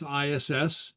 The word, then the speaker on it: is: so uh uh so we use the verb is and pronounce ass and the past tense would be bu pronounced boo.